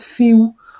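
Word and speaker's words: Fehu: Et puis ça, j'adore le fait qu'on vous dit, vous voyez ici, ça se prononce Féou.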